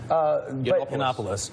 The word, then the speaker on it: Yiannopoulos: There were several others that, Milo, I can't pronounce his last name. Yiannopoulos.